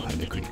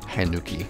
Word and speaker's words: Hanuki: Thank you for telling me that it's pronounced Michelle Hanuki. Hanuki.